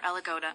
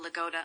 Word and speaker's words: Lagoda: The surname Lagoda has several variants of stress. According to the survey, most of them have an accent on the first vowel letter Lagoda, about 90%, on the second vowel letter Lagoda, about 9%. And the stress on the last vowel Lagoda is much less common, about 1%.